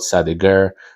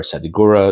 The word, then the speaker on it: Sadigura: to the city called Sadigur or Sadigura, depending how you pronounce it, and that is where he lived for the rest of his life.